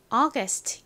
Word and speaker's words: August: 8월을 의미하는 단어인데요 뭔가요 August 이죠 가장 앞에 어 소리 나는 A가 오고요 그다음에 기억 소리 나는가 옵니다 그리고 어 소리 나는 u 다음 스트 소리는 S tl 써 주시면 완성이죠 어스 August 발음 연습해